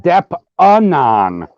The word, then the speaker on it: DeppAnon: No, you got to pronounce it right. Depp-anon. It's for anonymous, which doesn't make any sense.